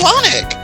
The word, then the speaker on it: Lonic: Well, it's Lonic. Rhymes with Sonic.